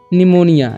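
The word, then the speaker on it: pneumonia: उसी तरह से है निमोनिया निमोनिया में कैसा है पीस एलेंट है ठीक निमोनिया में इसका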